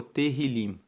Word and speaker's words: Tehillim: Os Salmos, no texto original, são conhecidos como Tehillim. Se escreve T-E-H-I-L-I-M.